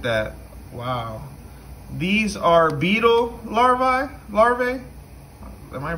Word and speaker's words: larva: These are beetle larvae. Am I pronouncing that right?